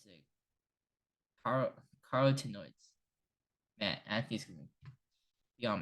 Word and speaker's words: carotenoids: I knew how to pronounce this, but I just forgot. It's a carotenoids.